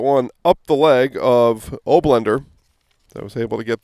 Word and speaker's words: Oblender: Nemetz and kicks that one up the leg of Oblender. I was able to get that pronunciation confirmed during halftime. Andrew and Joe Oblender.